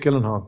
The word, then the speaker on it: Gyllenhaal: It's Jake Gyllenhaal.